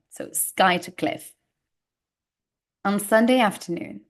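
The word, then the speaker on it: Skuytercliff: pronunciation but it's pronounced Sky of Cliff although there is a u so a good uh pronunciation Tri uh trick here um so you don't pronounce the U because it's Pro it's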